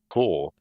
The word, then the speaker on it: cour: Core. Core? Why is it a core? There's a U. Isn't it? Oh, you got a U in there? Cool.